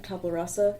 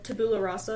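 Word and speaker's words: tabula rasa: Tablarasa. Tabularasa. Tabula. Thank you. I cannot pronounce it to save my life.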